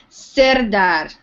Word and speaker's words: Serdar: Serdar with the R sound. Neha, rolling my R.